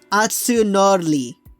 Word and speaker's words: Atsunori: I know it's not supposed to, it's not R. It doesn't sound like R. It's Atsunori.